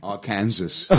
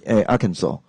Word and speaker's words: Arkansas: how to say this I used to say Arkansas okay I think many people do yeah but actually it's very strange Arkansas really yeah Arkansas and the stress is on the second syllable yeah